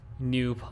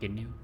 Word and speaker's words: GNU: New public license it's pronounced new, right? Not GNU.